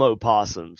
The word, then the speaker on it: opossum: But nobody fucking calls them opossums. Stop saying that. That's some weird shit. It sounds fucking weird. Why? Because I pronounce things? No, because because the O is silent. Opossum. It's a possum.